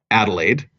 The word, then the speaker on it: Adelaide: And somebody's going to see that from Adelaide, and they're going to go, did I pronounce that right? Adelaide?